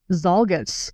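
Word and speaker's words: Czolgosz: Anyway, at the exposition, President William McKinley was assassinated by anarchist Leon Zalgus. I pronounced that right.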